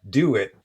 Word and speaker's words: Dewett: Dit on our podcast. last is pronounced do it as in just do it.